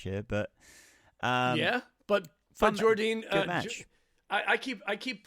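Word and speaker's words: Jordynne: I think I am it's Jordine right that's how I say Jordine I think I think I hear I've heard other people pronounce it Jordine Grace too and it's just I you know I think again lazy American fans just trying to make it Jordan um but I like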